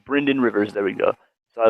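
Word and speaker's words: Brynden Rivers: know uh so blood Raven yeah it's it's Bryan Rivers there we go so I looked it up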